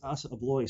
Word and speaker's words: Assa Abloy: it yeah no you're absolutely right it is a blog so well well done so what do they